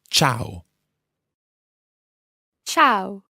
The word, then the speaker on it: ciao: spelled CH or W but it's not it's Chow Chow let's listen different Cheska pronounce this word tchau tchau now the interesting